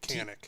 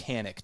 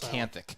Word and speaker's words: Kanthak: Canic. T H A K. And it's Canic. T is silent. I called you canthic the entire time.